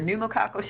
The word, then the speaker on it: pneumococcal: your flu shot your pneumococcal shot yes I pronounced it your pneumococcal shot so that's the one for pneumonia hepatitis